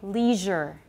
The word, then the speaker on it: leisure: The third one in American English, most people say leisure. Leisure.